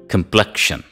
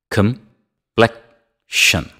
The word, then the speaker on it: complexion: me competitor competitor complexion complexion complexion the second syllable receives the stress repeat after me complexion